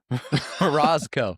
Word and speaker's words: Morozko: Morasco.